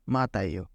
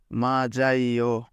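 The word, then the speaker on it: 맞아요: লেখা আছে মাত আইও আপাতত দৃষ্টিতে এটার উচ্চারণ আমাদের কাছে মনে হয় যে এখানে লেখা আছে মাতাইও কিন্তু প্রকৃতপক্ষে বাচ্চিমের রুলস অনুযায়ী বাচ্চিমের পরে ইয়ং থাকলে সেই বাচ্চিমটি ইয়ং এর কাছে চলে যাবে এবং সে সেইখানে উচ্চারিত হবে তাহলে প্রকৃত বাক্যে আমাদের যে শব্দটা লেখা আছে এটার উচ্চারণ হবে মাজাইও আপাতত দৃষ্টিতে আমাদের কাছে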